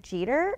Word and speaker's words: Jeter: fan I am I go so how about yider yesterday and he's like what like Derek eater yesterday he's like you mean Derek Jeter and I'm going oh my God how could